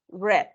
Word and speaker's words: read: está was entonces mom Red porque recordemos que aunque se escribe igual se pronuncia diferente read red and red entonces mom red the